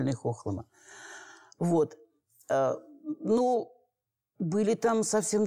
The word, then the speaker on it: Хохлома: Хохлома, почему произношение такое? Потому что стоит на речке Хохломка. Поэтому и произношение правильное — Хохлома.